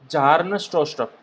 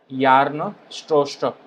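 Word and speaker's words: Bjarne Stroustrup: यहाँ पर आप बी को साइलेंट बोल सकते हो। ठीक है, तो फिर आप क्या पढ़ोगे, जार्न स्ट्रोस्ट्रप, राइट। अब ऑफिशियली इसका नाम जो है उसके अंदर बी और जे को कंबाइन करके य बोलते हैं, तो अब आप क्या पढ़ोगे, यार्न स्ट्रोस्ट्रप। ठीक है, इसका ऑफिशियल नेम क्या प्रोनाउंस होता है, यार्न स्ट्रोस्ट्रप।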